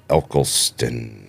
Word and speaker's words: Eccleston: One was Brendan Gleeson, and the other one was Christopher Eccleston. He's the one who plays. Is that how you pronounce it? Yeah, Eccleston.